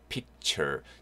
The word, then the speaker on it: picture: 네, 발음은요. Pic. C가 K 발음 나죠? 그 다음, 예, T-U-R-E 덩어리체로 좀 기억하시는 게 좋을 것 같아요. Tour가 아니고요. Chur, chur. 약간 이런 말 한글로 제가 굳이 써드리면 이렇게. Picture. T-U-R-E는 약간 덩어리체로 좀 기억하시면 좋을 것 같아요. 단어 뒤에 붙어서 chur, chur 이런 발음 납니다.